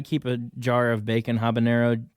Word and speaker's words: habanero: I didn't know what habanero was habanero habanero is the same thing I think I think the joke is that the age is silent oh habanero I call